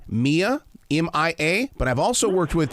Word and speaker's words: Mia: it off with one thing my granddaughter uh pronounces her name Mia M.I.A but I've also worked with people her name